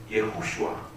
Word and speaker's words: 예호슈아: 원래 이름은 그 헬라식 이름, 예수님의 헬라식 이름이 예슈아인데 예슈아의 진짜 발음은 예호슈아.